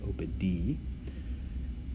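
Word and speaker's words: oppidi: Do note again on the second form in the noun entry, opd, I have highlighted the I ending, long I ending in red. That's pronounced E, opd.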